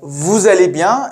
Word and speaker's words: vous allez bien: So, vous allez bien, vous allez bien, pronounced together as vous allez bien is one of the main ways to say, are you okay?